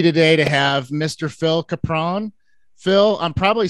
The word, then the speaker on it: Capron: New York father, Ohio mother of my version, they say Capron. They just try to make it non-regional and, you know, syllable sure. Phonetic, whatever. So Phil Capron, Phil Capron, Phil Capron, Phil Caprone, if you want to do it.